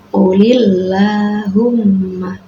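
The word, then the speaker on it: قُلِ اللَّهُمَّ: Mulk ya di situ ada qulillahumma lillah ini adalah bacaan tarqik sebab lafaz Allah didahului kasrah ya cara membaca yang salah misalnya ulullahumma malikal Mulk ya tidak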